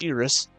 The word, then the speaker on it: Iris: The two of them es escorted as I or sorry forgot it's pronounced Iris and the others away from the chaos of the crown city and saw them safely to Ltoalum.